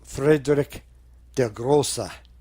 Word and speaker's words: Friedrich der Große: It's pronounced Friedrich der Große, for those of you who don't speak German.